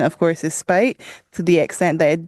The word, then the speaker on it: Speight: Our pronunciation, of course, is Speight, to the extent that it did actually leave a mistake on one of the maps, which will also be discussed.